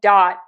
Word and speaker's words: dot: Just make sure you don't say dot with too closed of a mouth. You have to open your mouth a little bit for the a dot dot dot.